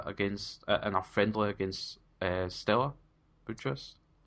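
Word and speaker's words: Steaua: He played a little bit against in a friendly against Stella Bucharest. Is that how you pronounce it? Yes, I just say Stoya.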